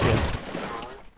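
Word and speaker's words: gib: Yes, it's pronounced jib.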